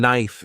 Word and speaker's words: knife: For example, the word enough sounds like enough, and knife is pronounced without the K sound.